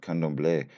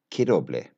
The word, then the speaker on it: Candomblé: So apparently my pronunciation is truly awful because it should be pronounced not candomblé, but kidoblé, apparently.